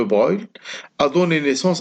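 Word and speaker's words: Broglie: l'hypothèse de breuil bon ça s'écrit deux gros gris mais ça se parle ans de brouille a donné naissance à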